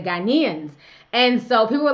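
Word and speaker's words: Ghanaians: but I have mispronounced I had said got him Ian's instead of ghanians and so people were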